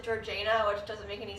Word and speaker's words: Georgiana: it would be pronounced Georgiana but but for some reason they pronounce it Georgina it just doesn't make